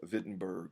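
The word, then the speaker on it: Wittenberg: became a faculty member at the University of vitberg I mean there's a a w there but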